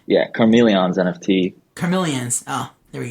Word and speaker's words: Karmeleons: I saw you're associated with a project called Karmeleons NFT, if I'm pronouncing that right. Yeah, Karmeleons NFT.